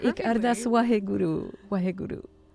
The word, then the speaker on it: Ik Ardas: You said it Ik Ardas perfectly.